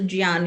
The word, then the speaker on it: Jnana: speaks of Jnana Yoga, Gyan Yoga as people call it, but the correct pronunciation is Jya, so Jnana Yoga.